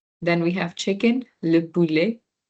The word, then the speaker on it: poulet: Okay, and then we have chicken, le poulet. It's like poo and then lay. Poo or and then lay. The T is silent.